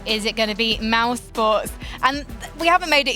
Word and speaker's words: mousesports: Do check that spelling, because when I first came into esports, I definitely mispronounced that. I thought it was mouse esports, because I was already a boomer when I began in esports.